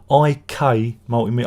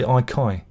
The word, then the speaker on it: IK Multimedia: always say it wrong ik multimedia i always say ikai i've got this mental thing where i go icon multimedia it isn't it's ik multimedia because i think of